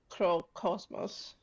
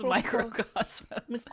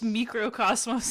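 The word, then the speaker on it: Mikrokosmos: then they closed with Microcosmos. It's microcosmos. I used to think it was microcosmos as well. Yeah, it's just microcosmos. It's spelled like it would be Greek, okay?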